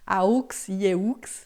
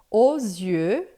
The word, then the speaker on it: aux yeux: o, e o X aqui a gente não pronuncia, mas ele está na frente de um Y, um Y, então a gente faz o som de Z. Então, os yeux, tá? E aqui essa pronúncia E faz uma boca de O e fala E, fica E, os yeux.